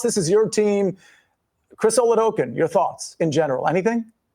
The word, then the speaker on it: Oladokun: I I think it's pronounced Chris Oladokun. Oladokun.